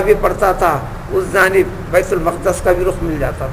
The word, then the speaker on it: بیت المقدس: بیت المقدس بولیے، بیت المقدس بولیے، بیت القدس بولیے، یہ 3 طریقے کا تلفظ صحیح ہے. بیت المقدس، بیت المقدس، بیت المقدس، بیت القدس.